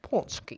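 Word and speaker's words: pączki: Like I'm like, the shit is spelled Patchkey, and it's throwing everybody off. But it is punch key.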